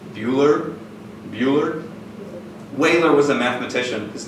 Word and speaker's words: Euler: Wehler was a mathematician. His name is pronounced that way.